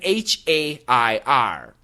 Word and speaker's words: hare: And H-A-R-E and H-A-I-R are pronounced hair.